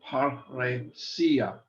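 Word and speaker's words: παρρησία: Another rule, double consonants are divided. So for example, here we have two rows together, par, roe, and each is pronounced separately, paresia. Notice that the accent is on the sia.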